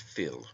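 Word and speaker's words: fuil: is taken from the irish word phil f-u-i-l pronounced phil meaning blood it also signifies a family or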